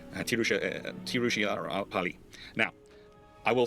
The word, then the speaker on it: Tiruchirappalli: It's sometimes called Trichy, but technically it's supposed to be pronounced as Tiruchirappalli. Uh Tiruchi Tiruchirappalli.